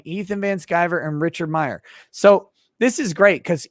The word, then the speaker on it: Meyer: Comicsgate people such as, Ethan Van Sciver and Richard C. Myers. It's just Meyer.